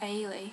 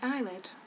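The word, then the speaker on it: Eilidh: why um no matter she wanted me to be called ailee which is spelt um e-i-l-i-d-h i link but dad didn't let her because he thought people would call me eyelid so there we go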